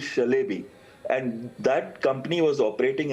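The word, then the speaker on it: Çelebi: See first thing is when Celbi they pronounce is Shalbei and that company was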